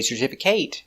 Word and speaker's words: certificate: but certificate certificate certificate four syllables stress the second syllable certificate certificate certificate certificate